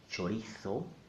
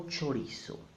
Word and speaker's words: chorizo: Chorizo, as in mainland Spain, or chorizo. That will be the Latin American way. Chorizo is not correct.